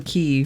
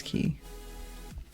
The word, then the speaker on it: quay: what that one is although in my brain I still say k like to spell it out I guess in my head like Quay K but I know it's key sometimes I say things